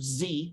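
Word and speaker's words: Xie: he's a Chinese National his name is Richard Z it's spelled x-i-e on his website he had two services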